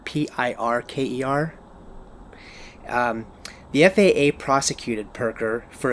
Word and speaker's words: Pirker: And there was this case, and it was the FAA versus Raphael, and I think the name is pronounced Pirker, Pirker.